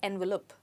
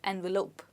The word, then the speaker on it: envelope: as envelope envelope okay remember that the ending is not lup but lope people often say envelope when it's supposed to be envelope okay now let's look